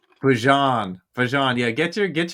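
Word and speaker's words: Bijan: This is This is Bjan or Bjon can only do so much. Bjon.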